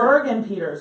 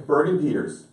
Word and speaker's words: Burgin-Peters: But it's Burgin-Peters, right? Oh, Yeah. Yeah. Did I say it right? already blew it. I know. Well, I spelled it wrong already. Burgin-Peters.